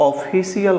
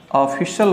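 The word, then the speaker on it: official: आप और बताइए कि अगर इससे आप ऑफिशियल करते हैं तो यह गलत है ऑफिशियल गलत है अधिकतर लोग ऑफिशियल बोलते हैं जो कि गलत उच्चारण इस कारण होता है और फिसल-फिसल देखिए अब थे ऑफिशल बोला जाता ऑफिस शब्द कि आज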